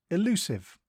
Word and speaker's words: elusive: Today's word is elusive. It is pronounced E-lu-sive and is spelt E-L-U-S-I-V-E. Think elu and then sieve.